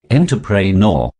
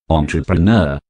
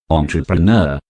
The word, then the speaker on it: entrepreneur: bomb number seven entrepreneur this word is often mispronounced and is said like this interpret nor say this word thrice with me entrepreneur entrepreneur entrepreneur let me tell you the word has